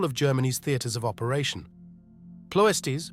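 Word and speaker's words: Ploiești: Pesties pronounced pouest refineries were arranged like the reefs and islands around a lagoon with the city in the center.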